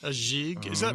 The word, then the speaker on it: gigue: Uh, Magister Annie says, "Does it give anything away if I say that jig is pronounced with a soft G in French?" A jig.